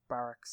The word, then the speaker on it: Barkas: Scarab backwards. Pronounced barracks.